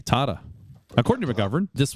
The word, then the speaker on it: Tata: specific request from Tata Tata how do you say it her Canadian said tada tada tada oh it's like a long a Tata according to my govern